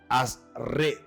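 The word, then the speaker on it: אשרי: La expresión en hebreo de la palabra bienaventuranza es, o la palabra se pronuncia asred. Asred.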